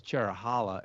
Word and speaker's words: Cherohala: say it because uh I thought it was Cheralla and you pronounced it in a different way probably. I I always thought it was Cherrow for Cherokee, which is the one forest it comes from, and Hala to go with the Nanta Hala forest, which